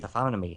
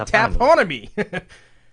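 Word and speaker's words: taphonomy: That's how you say it. Taffam. I looked it up. Teeth. Tonomy. Taffonomy. But I was saying taponomy.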